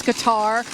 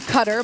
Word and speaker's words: Qatar: debate over the pronunciation whether it's Qatar or Cutter but talking with Boeing officials it is indeed cutter and I've always heard